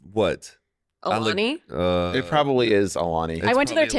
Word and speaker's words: Alani: He literally pronounces Alani Alanai. Alanai. I So- think it is Alani. It has to be.